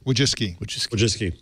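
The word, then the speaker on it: Wojcicki: buy YouTube Susan wski say her name wuis wki but there's an extra c in there we're ignoring it yeah but you have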